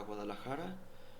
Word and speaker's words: Guadalajara: J'habite à Guadalajara, l'état de Jalisco. Je prononce en espagnol. C'est comme ça.